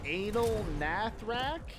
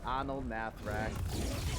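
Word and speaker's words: Anaal Nathrakh: What is this Anal Nathrak? Like, no, it's Anal Nathrak.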